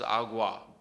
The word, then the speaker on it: agua: Aquí, it's a very similar word, has a U in it, but it's pronounced completely differently. Aquí versus agua. The wa is that difference. It's that XU phoneme.